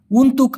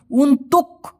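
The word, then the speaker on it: untuk: ইনি ছায়া সুডাহা বেলি মানে আমি অলরেডি কিনেছি উনতুক আওয়ার জন্য আপনার অথবা আপনার জন্য আর কি এটা আমি আপনার জন্য কিনেছি আপনারা খেয়াল করে দেখবেন উনতুক এভাবে না বলে আমি বলতেছি উনতু মানে কটা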